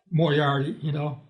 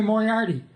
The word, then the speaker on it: Moriarty: No one said Moriarty. They said Moriarty back then. Yeah. My mom wasn't a Moriarty. My dad accepted Moriarty, so it was always pronounced that way. So you lose the art when you say Moriarty. You get the air, but you don't get the art.